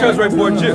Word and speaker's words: Cesare Borgia: Cesare Borgia. But yeah, that's how you pronounce it.